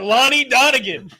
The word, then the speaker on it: Lonnie Donegan: Lonnie Donegan. They're all playing together. It's how it's said, Lonnie Donegan.